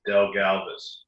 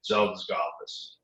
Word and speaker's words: Dzelzgalvis: The first way is in the United States, what you do is you pronounce it Dzelzgalvis. Elvis. If you were in Latvia, which it's a Latvian derivation, it would be Dzelzgalvis.